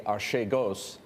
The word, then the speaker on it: Archegos: If we had seen again on an HCS search that Archegos Capital, or however we want to pronounce it, in fact, A Greek colleague of ours told me yesterday it should be Archegos.